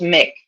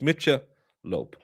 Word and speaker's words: Michelob: He says, "Pronounce everything as it's spelled." Mitchell Ultra. Well, it's Mick. No, it's not. Jamie Malhala will fight you on this one. It's Mitch Lope.